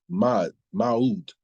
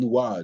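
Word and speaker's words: Mu'adh: or S-A apostrophe A-D, Ibn Ma'ud, or Ibn Muad, excuse me.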